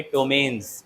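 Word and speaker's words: ptomaine: टोमेस। P silent है।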